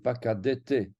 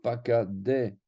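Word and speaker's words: פקדת: Or, ici, comme c'est à la fin du mot, on ne va pas avoir ce cas-là, on va avoir pakadet. C'est le contraire.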